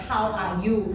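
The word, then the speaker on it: HOWARU: Okay, it's called it's actually Hawaru, but it's actually we pronounce it as How Are You?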